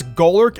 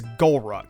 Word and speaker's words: Golurk: I used to pronounce Golurk as Golruck.